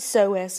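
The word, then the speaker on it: psoas: latae on the front so as major that P is silent iliacus k a doctor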